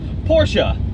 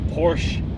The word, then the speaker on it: Porsche: It doesn't rhyme with porch.